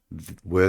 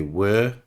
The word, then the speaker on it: were: Yes, they were. No, they weren't. Please remember, the pronunciation of the verb was is with a Z sound. Was, and were tends to be long, not were, but were.